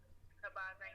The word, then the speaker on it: Habazin: I don't want to mispronounce her last name. Ivana Habazin. Habzin, yeah.